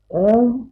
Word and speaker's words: ओम: उच्चारण ओम का अ उ म तीन अक्षरों से तीन अक्षरों से जुड़ने से स्वर बनता है ओम तो वो तो तुम्हारी